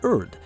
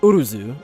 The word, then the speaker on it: Urd: And the reason I say that is because her name should also be written as Urth if we were trying to be authentic, meaning it should have that sound at the end of her name, like in Hermoth.